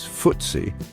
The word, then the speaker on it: FTSE: The FTSE 100, often pronounced as FTSE, is a stock market index that represents the 100 largest companies listed on the London Stock Exchange.